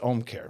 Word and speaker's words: Ōmcare: so anyway it's not that it's just H care right correct I don't have to try and put anything home care it's like home care it's it's Home Care without the H correct okay great that